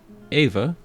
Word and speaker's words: Eva: That means the newest content has been released for late January 25, and that means Ava, or Eva as I pronounce it, Ava had her stellar